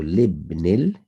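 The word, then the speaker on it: لابنِ: So you put a lam there. And the alif is silent now because it's a hamzatul wasl. So libnil belongs to the son of mudiri, the manager or the head teacher.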